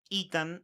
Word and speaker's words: Ethan: Hay un alias, ya lo vamos a detallar varias veces, que es todo por Ethan, y Ethan se escribe E-T-H-A-N, ¿no es cierto?